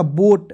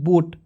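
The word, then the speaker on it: boat: प ओ ए आया तो इसको यहां प लिख देंगे ओ के रूप में ओ और टी से ट तो क्या हो जाएगा बोट बी ओ ए टी बोट ठीक है बोट माने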